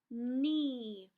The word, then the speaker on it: knee: which isn't it and remember when two vowels go walking the first one does the talking and it's always a long sound so that means this second one is silent which makes this one long so it says e so let's try to